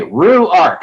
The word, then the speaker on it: Ruark: here is it work how do you say it through ART like kangaroos on the art okay Rue Arc so just phonetically well good to have